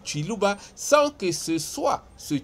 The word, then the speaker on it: Kiluba: constituée des autochtones Baluba, locuteurs du Kiluba, prononcés Chiluba, sans que ce soit ce Chiluba d'Mbujumai.